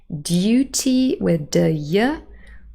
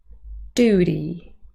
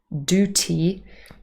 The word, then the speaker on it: duty: dropping we have duty now here there are two differences because first of all the year has disappeared it's just do in the first syllable but also in the last syllable we have a very soft D sound instead of a t so it's not Duty that would not be very Americans instead it is Duty Duty so you can hear